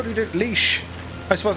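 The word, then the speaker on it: Laois: says how do you pronounce leash so it's pronounced leash how do you do leash i suppose like that leash yeah yeah oh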